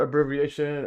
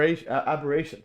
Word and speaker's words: aberration: So, it's going to be we're going to go over stellar abbreviation. Uh, how do you even pronounce it? Abbyation. Aber aberration.